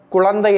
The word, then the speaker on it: குழந்தை: நலமே தாயும் குழந்தையும் நலமே குழந்தை என்பதற்கு சிலர் குழந்தை என்று சொல்வார்கள் எழுதுவார்கள் அதே மாதிரி குழந்தை அந்த லா லாவோ லாவோ போடக்கூடாது லா தான் போட வேண்டும் தாயும் குழந்தையும் நலமே அந்த